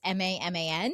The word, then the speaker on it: Maman: And so then we decided we were going to go to another recommendation from my friend Tiffany called, I don't know if it's pronounced Maman. It's Maman.